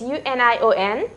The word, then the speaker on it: union: Here in second, how do you pronounce this? U-N-I-O-N. Union. Ya. Ya is consonant.